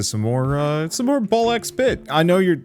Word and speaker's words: BALL x PIT: Hey everyone, Wander here and welcome back to some more uh some more Ball X bit. I know you're I know the X is silent, but I have to say it anyway.